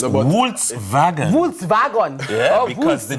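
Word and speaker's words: Volkswagen: I know actually it's no it's WS vagon Vols vagon because the W is spelled as a V and the V is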